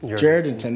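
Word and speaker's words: Jourdanton: I'm in Jordanton, Texas, or Jordanton. Jordanton, that's how the locals say it.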